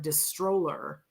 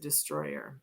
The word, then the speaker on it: Distroller: So it sounds like Distroller, but they pronounce it Destroyer.